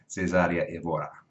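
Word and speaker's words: Cesária Évora: Cesaria Evora. All right, that's how you pronounce that shit.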